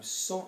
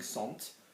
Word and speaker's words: sont: so is they are now song is a heavy sound s-o-n-t okay we're not pronouncing ont are we we're not saying Sant we're saying song El same thing okay